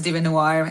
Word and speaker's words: DieveNoire: And so let's welcome to the show Lariyah from DieveNoire. That's right. Hi. Did I pronounce it okay? Because hate if no worries. It's Lariyah, and the band's name is DieveNoire.